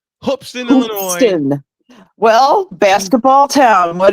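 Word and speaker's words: Hoopeston: that beats my South Carolina Gamecocks what folks hoopson Illinois hoopson Illinois I gotta say it right hoopson Illinois well basketball town what do you know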